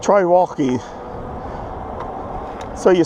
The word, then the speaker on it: Wallke: And so one of the One of the people said, try Wallke. They have a good quality bike. Okay. They said, try Wallke. So you spell that W-A-L-L-K-E.